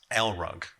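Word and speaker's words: LRUG: rug for short and if you really stress the L you can pronounce it as L rug hence the logo we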